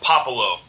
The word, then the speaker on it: Puopolo: did that right yeah it's uh papalo yeah nope not poke or poop or anything like that pop yeah so uh